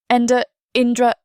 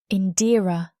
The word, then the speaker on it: Indira: Indra. He stumbles over the name. Indy. Indira looks at him sharply. Indira, the big orc says gruffly, sounding out each syllable.